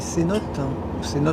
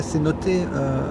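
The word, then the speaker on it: cenote: Alors les cénotes en français, cénoté à prononciation locale, ce sont des sortes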